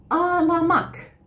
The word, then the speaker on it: ağlamak: Ağlamak qui s'écrit avec le G-mot. Ağlamak. C'est pour ça que je vous ai dit, entendez bien. Donc, c'est ağlamak. Ça s'écrit avec un G-mot qui veut dire, bien sûr, pleurer. C'est un verbe. Donc, ağlamak avec un G-mot après le A.